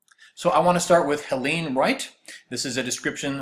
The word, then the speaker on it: Helene: She lost only one battle, the pronunciation of her name. The people in the bottom refused to say Helene. They called her Helen Wright and left it at that.